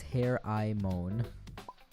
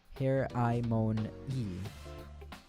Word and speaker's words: Hermione: I pronounced it as Her-I-Mon. Yeah. Her-I-Mon-E. Her-I-Mon-E.